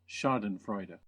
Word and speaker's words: Schadenfreude: research on this and I found the correct pronunciation. It's this one. Schadenfreude.